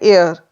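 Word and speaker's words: heir: पहले हम एन लगाएंगे एन एयर यहां पर एच साइलेंट है और साउंड किससे आ रही है ए से जो कि हिंदी का स्वर है इसलिए इससे पहले हम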